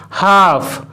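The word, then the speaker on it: half: শুধুমাত্র CAF এই তিনটি লেটার এর উচ্চারণই করা হচ্ছে, না হলে কিন্তু এটিকে কালফ বলা হতো। একইভাবে বিহাফ, বিহাফ, হাফ, হাফ, হাফ moon, হাফ moon, হাফ পে, হাফ পে ইত্যাদি।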